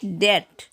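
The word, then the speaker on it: debt: Next है डेट, डाउट। यहाँ पर बी जो है टी के पहले आया है, तो यहाँ पर बी साइलेंट होगा।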